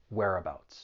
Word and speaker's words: whereabouts: pronunciation it's pretty straightforward there are three syllables the stress is on that first syllable whereabouts let's try and do